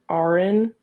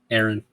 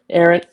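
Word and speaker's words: Arryn: John Arin Aaron. Aaron. Why are they spelled like this, man?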